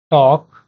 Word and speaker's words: talk: ऐसे वर्ड है walk talk okay walk talk okay not इसको आपको ऐसे नहीं प्रोनाउंस करना है walk talk okay you can simply say walk talk okay the letter L is silent okay so you can